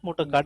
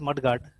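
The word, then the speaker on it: mudguard: बट इट्स नॉट मोटर कार्ट, इट इज मड गार्ड, मत ठीक है।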